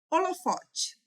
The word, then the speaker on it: holofote: Holofote. Reparem que aqui nós temos o H, né? Então, H a gente não fala.